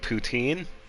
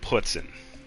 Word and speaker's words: poutine: Um, it's called poutine and it's also called putin. Uh, depending on where you're at.